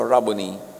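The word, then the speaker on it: Rabboni: John 2016 humarap siya at kanyang sinabi raboni or guro. Yung mga Amerikano sasabi nila, rabon. Pero that's an Americanized pronunciation. A Hebrew word walang long eye. So rabony.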